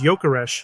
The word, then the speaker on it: Gyökeres: surname properly pronounced as yokesh the Swedish language softens the G interestingly his Hungarian surname